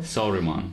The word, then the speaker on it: Saruman: I can't pronounce it. Well, you got close. It's to Salamander. I know. Saruman.